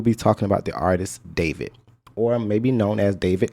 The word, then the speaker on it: D4VD: apparently well-known streaming artist named David, which is spelled D4VD.